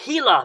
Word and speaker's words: Gila: as fast as you can this is a gila monster again the g sound in spanish is